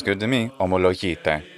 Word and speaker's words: ομολογείτε: Omologite. Just the modern Greek pronunciation, and that's the word.